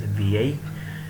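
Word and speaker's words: vieille: and the pronunciation is V-I. And last but not the least, feminine plural column, in which S is added in the end. So the pronunciation remains the same, VI, but S is added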